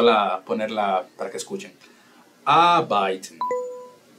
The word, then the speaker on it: arbeiten: Arbeiten. La R no se pronuncia. Arbeiten.